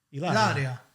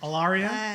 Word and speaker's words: Ilaria: Ilaria. Okay. Right? Perché sono Ilaria. italiani, Well, perciò. how do people like... Alaria?